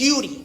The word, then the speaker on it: Yuri: So my name is Yuri, pronounced like the letter U and the letter D. Okay? Yuri. Don't fuck how it's spelled, Y-U-R-I. Forget about it. Letter U, letter D.